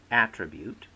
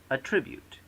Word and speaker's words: attribute: word addict becomes addict the word attribute becomes attribute the word object becomes